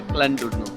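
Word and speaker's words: Llandudno: वैसे तो क्लैनडुर्नो की स्पेलिंग डबल एल से स्टार्ट होती है, लेकिन इसको प्रोनाउंस किया जाता है क्लैनडुर्नो।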